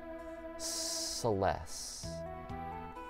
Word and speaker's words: Celes: Fantasy this is like saying Celestial but you stop halfway okay Celeste okay Celeste cool all right nice to meet you Celeste Joel's Mighty General